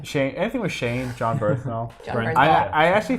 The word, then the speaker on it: Bernthal: So anything with how do you say his last John name? Bernthal. Just call John him Shane. Shane. Anything with Shane, John Bernthal.